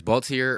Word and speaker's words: Baltiere: so people know how to how to properly pronounce it cool so my brand is baltier urban culture it was established in 2015 it's